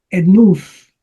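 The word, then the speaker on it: ἔθνους: Tu etnus. Tu, enus. Etnus. Acuérdense que el diptongo Omicron upsilon se pronuncia con una U larga.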